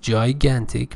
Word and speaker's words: gigantic: Latin based pay attention if G is followed by I and e um it is pronounced J not g if it is before